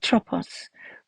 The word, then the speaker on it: Atropos: how to say it atropos we normally pronounce the s in Greek and atropos was a